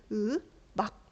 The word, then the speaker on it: 음악: 그래서 음악이라고 하는 글자를 실제로 발음할 때는 으막 이렇게 발음이 된다는 거야. 으막 이렇게 발음이 되는 거지.